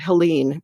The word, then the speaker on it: Helene: woman named Helen hadzel it looks like it's spelled Helene but I believe it's pronounce Helen she's had this philosophy